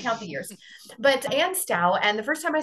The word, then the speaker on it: Stough: the years but and stout and the first time I saw it I'm like wait and stuff well it spelled like tough but it rhymes with cow so and style she